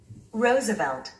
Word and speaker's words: Roosevelt: 그런데 원어민들은 이렇게 발음하고 있습니다. Roosevelt.